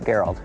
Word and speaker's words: Geralt: Geralt. Nice to meet you. Yeah, Geralt. Tim. Hi, Tim. How you doing? Gerald with a G? Yeah, I'm hard G.